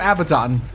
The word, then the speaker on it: Abaddon: uh from donna sorrow oh it's abaddon sorry i kept calling him abaddon i think both pronunciations are valid but i i uh i play a lot of persona so i tend to hear like abaddon because that's how they pronounce it in that series also this guy is